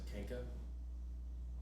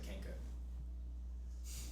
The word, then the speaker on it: Kenku: And when I do pronounce Kenku, I actually pronounce it Kenka. Just to let you know. So I say Kenka.